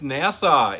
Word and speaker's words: Nassau: Well, anyway, nobody knows how to pronounce it, but it's NASA. It's NASA.